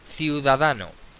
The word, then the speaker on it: ciudadano: Ciudadano, ciu, da, no. Bien, es llana y por lo tanto no lleva tilde porque acaba en O.